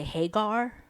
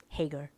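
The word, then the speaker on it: Haggar: Because it's spelled H-A, I think G-G-A-R. And people would always say Hagar. Oh, I But was thinking of Hagar. Oh. no, yeah, they always say Hagar.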